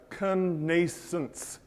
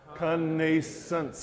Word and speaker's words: connascence: let's just all kind of practice that together conance conance conance one more time conance okay so if you get anything out of